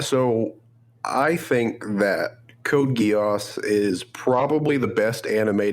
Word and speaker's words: Code Geass: about that was gross I apologize uh about Code Geass well I'm surprised you pronounced it correctly yeah have you ever seen